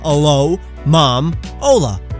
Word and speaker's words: Alomomola: It's a palindrome. It's read the same backwards and has mom in the middle. So alo, mom, ola.